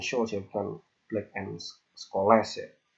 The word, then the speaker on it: Scholes: Bacanya Black and Scholes ya, bukan Black and Scholes ya. Habis les, bukan Scholes, Scholes.